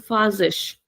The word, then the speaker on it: faz: So the same letter Z, somewhere it is pronounced as Z, that is the default sound of the letter Z. But in this case, it is pronounced very softly.